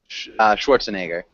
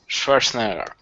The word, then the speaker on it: Schwarzenegger: How do you pronounce his family name? Schwarzenegger. Schwarzenegger.